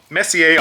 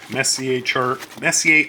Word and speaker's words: Messier: Charts of the Messier Objects, I believe is how you would say that, like a French pronunciation.